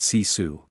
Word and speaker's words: sisu: Finland has a cultural concept called sisu, pronounced sisu.